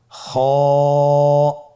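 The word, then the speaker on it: خ: খ হরফটি হলো মোটা হরফ, উচ্চারণের ক্ষেত্রে মোটা হবে। ছবিতে দেখুন খ হরফটি কীভাবে উচ্চারণ করতে হবে। খ হরফটির মাখরাজ হলো কণ্ঠনালীর শেষ ভাগ হতে উচ্চারণ করতে হয়, কণ্ঠনালীর শেষ ভাগ।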